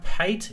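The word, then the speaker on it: Payt: Hi, Pate is P-A-Y-T. Hopefully you spell Pate is the way I pronounce it as well.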